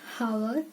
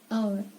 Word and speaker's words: hour: It is not hour, it is hour.